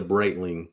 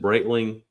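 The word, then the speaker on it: Breitling: want to get I want to get a braitling you said braitling is how you pronounce it braitling yeah I like the bands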